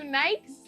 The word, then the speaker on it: Nike: like for example yeah you guys call it Nike Nike no idea I want you guys to know that up to like 16 years old that was Nike and I bought some new Nikes and like I remember people giving me weird